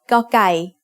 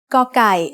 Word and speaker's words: ก: It is like trying to say a C sound but without letting any air come out of your mouth. Gokai is one of only two Thai consonants that doesn't have a head.